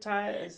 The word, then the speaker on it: Tai: Tai. That Style by Tai. Tai. That Yes. Style by Tai. My name is spelled TAI. Yes. So, Nice. thank Nice. you. It's almost like tea, like chai tea.